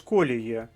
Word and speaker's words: колії: сідла чи вибитися з колії зверніть увагу наголос на першому складі в цьому випадку важливо